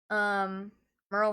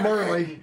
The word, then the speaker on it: Merle: Shelton, Presley Barker, Merle Haggard. Good job, you said it right. Yeah, not Murley.